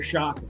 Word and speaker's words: Sciacca: It's not, it's Shaka. Just so you don't think you're pronouncing an appetizer on an Italian menu.